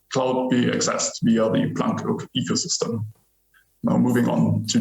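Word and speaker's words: PlanQK: stands for and first and foremost it's not pronounced plant q car or plant qk or some other version it's planck as a reverence to of course the physicist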